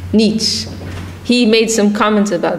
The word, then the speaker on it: Nietzsche: How do you pronounce? Nietzsche.